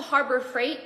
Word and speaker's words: Harbor Freight: was saying Harbor Freight it's not bright it's Freight so I went to Harbor Freight and I was like